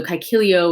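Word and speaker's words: Caeciliō: a long a so kikilio with that long o and matella with that long a that was in our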